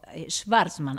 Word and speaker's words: Schvartzman: Vamos a hablar con Laureano Schwartzman, así se pronuncia, él me lo dirá si está bien